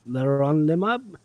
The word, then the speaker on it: leronlimab: Because Yeah, because leronlimab isn't exactly Leronlimab. easy. Easy to Yeah, pronounce.